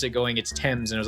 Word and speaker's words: Thames: Is it pronounced Thames or Thames? I remember reading that in a book once and going, why isn't it pronounced Thames? And hearing someone pronounce it going, it's Thames.